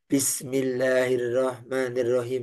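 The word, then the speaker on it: بسم الله الرحمن الرحيم: saya nyimak mahasiswa itu kesalahan yang suring terjadi itu huruf ha ha Bismillahirrahmanirrahim bas kayak gitu Padahal H ya karena mungkin setiap hari kita enggak pernah ngaji menggunakan huruf Ha kan kita berbicaraan engakai huruf ha tapi dalam al-qur'an itu ada huruf ha bismillahirah ha Bismillahirrahmanirrahim ha itu baik Bapak Ibu yang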